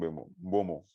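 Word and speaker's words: Mbeumo: But some Mbomo, that's the name. That's how it's pronounced.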